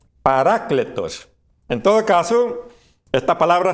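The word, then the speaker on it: παράκλητος: católicos le llaman paraclito en griego la pronunciación correcta es paracletos en todo caso esta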